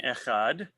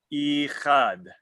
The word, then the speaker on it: echad: The chet in echad should not be pronounced hurriedly, for then the word would sound ichad.